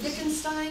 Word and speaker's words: Wittgenstein: That's how they say it, Wittgenstein.